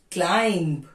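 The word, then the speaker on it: climb: इज raw Prasan the correct is टॉम वूम क्लाइम इट्स क्लाइम बी क्लाइम इ रंग क्लाइम com date नॉ Depp date ना silent letter N autumn न autumn autumn डम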